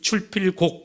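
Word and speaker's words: 出必告: 나갈 때 꼭 부모님 뵙고 인사하고, 이 말씀이 출필곡 그렇게 돼 있더라고요. 그래서 왜 알릴 고자를 썼는데 곡이라고 읽을까 이렇게 궁금했었어요. 그래서 찾아보니까 이 곡이라고 하는 것은 청할 곡자라는 거예요. 그러니까 알릴 고도 되지만 청할 곡자도 된다는 거예요.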